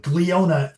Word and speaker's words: Glionna: So, uh, but Gleiona for all of you, that's the way it's pronounced.